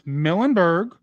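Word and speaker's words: Milneburg: ET, there's the Millenberg, and it's Millenberg Jazz Loop. No, it doesn't sound like how it's said. That's how we say it here in New Orleans.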